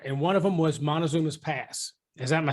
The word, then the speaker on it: Montezuma's: two things extra, and one of them was Montezuma's Pass. Am I saying it right? It was Montezuma's Pass.